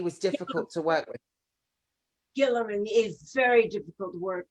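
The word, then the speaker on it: Guillermin: Yes, it was Gilliman.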